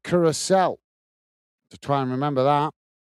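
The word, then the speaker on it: Curaçao: Curacao, Curacao, if we can pronounce it, but apparently it's pronounced Curacao.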